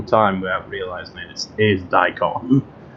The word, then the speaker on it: daikon: how do you pronounce that and i've been pronouncing it right this whole time without realizing this is daikon it's a japanese uh it's a vegetable apparently